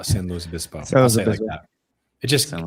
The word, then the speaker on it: San Luis Obispo: Well, you just smash them all together. That makes you sound like cool. Yeah, it's all San Luis Obispo.